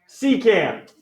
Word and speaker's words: secant: That is called a, anybody want to try to pronounce it? Secant.